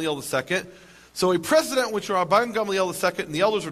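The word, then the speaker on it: Gamaliel: precedent which ran Gamel he probably thought it was pronounced galel uh the correct Hebrew pronunciation is Gamel and Gamel as you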